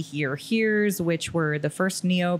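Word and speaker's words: hir: newer pronouns right so you've got z here here's which were the first neo pronouns you spell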